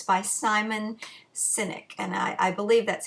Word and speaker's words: Sinek: It's by Simon Sinek, and I believe that's how you pronounce his last name.